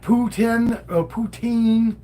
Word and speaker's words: poutine: He says you Kim, but that ain't Putin or Putin. How do you pronounce it? No, it's Poutine. I think it's poutine.